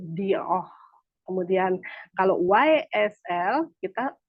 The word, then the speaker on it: Dior: Nih Bapak Ibu e biasa kita kalau baca di itu itu dibaca dalam bahasa Prancisnya itu dioh kemudian kalau YSL kita